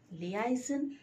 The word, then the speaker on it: liaison: Liaison is to be correctly pronounced as liaison. Liaison, not liaison.